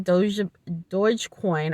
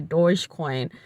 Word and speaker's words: Dogecoin: Unfortunately, I was trying to buy Dogecoin. I think that's how you pronounce it correctly, Dogecoin, and apparently Robinhood uh, just flat out said we can't approve your application.